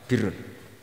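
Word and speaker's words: بِرّ: Ya kalau di isim fa'ilnya umumnya guru-guru kita baca barrin, tapi untuk masdarnya untuk kebaikan bacanya apa? Birrun.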